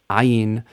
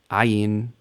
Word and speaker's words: ayin: Ayin. Like aleph, ayin is silent in standard and modern pronunciation.